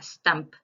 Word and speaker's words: STUMP: Y investiguen también sobre una entidad en cuanto a los leiomioma y leiomiosarcoma que se llama STAMP, que se escribe STUMP.